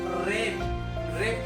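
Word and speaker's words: wrap: के तुरंत बाद अगर आर आएगा तो उसको डब्लू को नहीं पढ़ेंगे तो आ से शुरुआत करेंगे तो क्या होगा रे रेप पढ़ेंगे इसको रे रे नेक्स्ट हम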